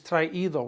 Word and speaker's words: traído: Brought is traído with an accent on the I, like they have brought a lot of food.